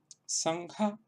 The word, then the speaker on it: sangha: hora de realizar la oclusión, pues nos permite pronunciar correctamente esa nasal. Entonces, si yo digo, por ejemplo, la palabra sangha, sangha, sangha, sangha, que es una palabra sánscrita